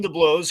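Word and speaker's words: DeBlois: uh deemed a blow which by the way we've been saying it wrong all these years by the way i double checked so apparently it's definitely oh no yeah so dean the blows who went on to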